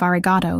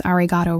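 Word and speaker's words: ありがとう: I did pronounce arigato wrong. The final O was too short, too clipped.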